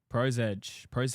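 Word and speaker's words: ProSedge: Pro Sedge, the comment before. Look at that, Yep. hey? Callback. Yep. Pro's Edge. Is that how you pronounce Pro it? Sedge. Pro Sedge. Sedge. SEDGE. Okay. Sedge.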